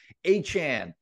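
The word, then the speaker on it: Achane: How do you pronounce his name? Achan. Sorry. Achan.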